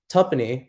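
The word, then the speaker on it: tuppenny: For example, tuppony spelled like two penny only has two syllables.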